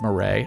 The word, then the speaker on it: Murray: That's right, it's Murray. I've confirmed it. That is how you pronounce that.